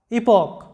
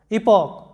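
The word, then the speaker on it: epoch: এরপরে দেখো ইপক, এখানে সিএইচ এর উচ্চারণগুলো কি হচ্ছে আমাদের ক এর মতো, চ এর মতো না হয়ে ক এর মতো উচ্চারণগুলো হচ্ছে। ইপক, যেটার অর্থ হচ্ছে যুগ বা কাল।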